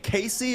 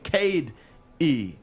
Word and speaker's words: Casey: is it coach dwayne casey or is it coach dwayne cade e no i don't know that second name my first name is